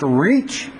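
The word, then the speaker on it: Ritschl: I believe it's pronounced Reach, and I still don't think I'm pronouncing it right.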